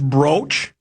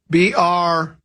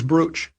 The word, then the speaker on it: brooch: Here someone says, isn't it pronounced broach, like roach? No, broach is like if you broach the subject.